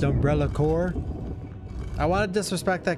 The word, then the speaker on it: Umbrella Corp: a rando would save umbrella corpse Let It Die oh my God these herbs dude did you know it's pronounced umbrella core I want to disrespect